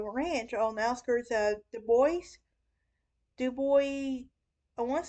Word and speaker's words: Dubois: Cassidy purchased a ranch on the outskirts of Dubois. I want to say it's Dubois. I think the S is silent like Illinois, but I'm not sure, but I want to